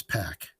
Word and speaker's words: Pac: Everybody mispronounces Pac. Poor Pac. Pac. It's Pac.